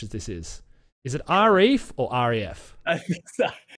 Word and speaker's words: Arief: that uh that don't actually know how to pronounce so so my name is arif i say rf those are my parents right